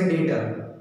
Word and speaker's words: debtor: Here B is silent, right? इसे हम पढ़ेंगे कैसे debtor?